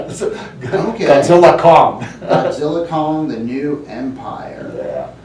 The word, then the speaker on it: Godzilla x Kong: Producers said that uh the x is silent is silent yeah Godzilla Kong Godzilla Kong the new